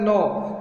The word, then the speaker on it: gnaw: They help them to नो, GNAW एक word है, GNAW, इसका प्रोनाउंसिएशन होता है नो। They help them to नो, G silence है इसमें।